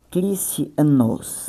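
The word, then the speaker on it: Χριστιανός: E uma coisa interessante aqui, gente, cristianos, né, pronúncia grega, cristianos, né, cristianos.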